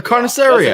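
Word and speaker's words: carnicería: A carniceria. Okay, we'll move on. Let's go. Carniceria.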